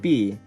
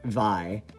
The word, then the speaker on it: Vi: How do you pronounce V's name? Just like B. V's sister says it like Vi though. So Vi. Huh, okay, I didn't actually know that Jean canonically says it the French way. But you are supposed to pronounce V like V and not Vi. And I never thought I'd